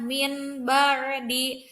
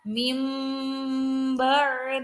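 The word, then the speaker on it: من بعد: dari kata mint bordir maka tidak dibaca minbar di tidak dibaca mebor di tetapi dibaca mimber dihina cara mudahnya biasanya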